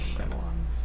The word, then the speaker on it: Shyamalan: I don't know how to pronounce his name. Shyamalan.